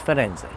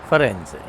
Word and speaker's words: Firenze: It doesn't seem that difficult, but to hear people say friends, or Firenze, or Firenze, or Firenze, it's Firenze. Firenze.